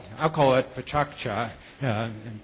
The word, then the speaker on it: pecha kucha: experiment and the format is called alcohol it pecha kucha and pronounce it that way and he might be